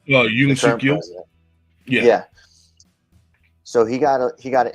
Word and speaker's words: Yoon Suk-yeol: See, I've been trying to put that together because they do 5 years, and was it Young Suk-yeol? I can't pronounce his name. Yoon Suk-yeol.